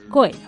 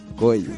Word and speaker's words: Coelho: Prada para apuntarnos que no se dice Coelho. O sea, Pablo Coelho a partir de ahora ya no. Es nunca Coelho. más. Es Pablo Coelho. Coelho.